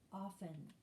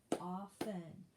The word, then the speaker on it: often: often remember it's pronounced often the t is silent often o f t e n often all right what